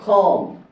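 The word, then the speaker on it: comb: ব্যাখ্যা করার জিনিস আছে এম বি বাক্যের শেষে থাকলে বাক্যের শেষে থাকলে বি এর বি এর বি এর উচ্চারণ বি এর উচ্চারণ হবে না এম আর বি একসাথে থাকলে বি এর উচ্চারণ হবে না যেমন দেখেন এম আর বি দুঃখিত এম আর বি যদি বাক্যের শেষে একসাথে থাকে যেমন ধরেন কম নাম এখানে বাক্যের শেষে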